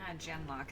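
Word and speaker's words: Genlock: generic they're pretty cool gen lock is how they pronounce it it's much larger we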